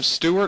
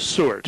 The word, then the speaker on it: Sewart: Now, was his last name Stewart or Sewart? Sewart.